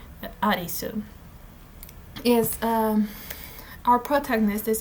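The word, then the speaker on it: Arisu: it's the closest name the closest way that if i'm not mistaken the japanese language can go to alice because they do not do that well with the else they do not pronounce it that well so arizu yes um our protagonist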